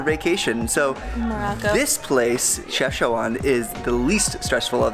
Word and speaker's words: Chefchaouen: Chefchaouen. It sounds like Szechuan, but it's Chefchaouen. Or just Chaouen, if you want to say it like the locals would.